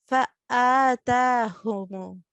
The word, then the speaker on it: فآتاهم: فآتاهم. فآتاهم. Yes, even though Aleph and Hamza comes under throat letters, but we do not pronounce it like Ain.